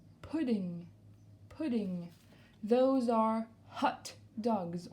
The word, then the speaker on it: hot dog: des rolling deux ans hot dogs on n'oublie pas de prononcer le hb doggs hot dog sur la